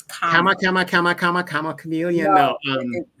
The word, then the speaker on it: Kamala: Did I say her name right? Kamala. No, it's Kamala.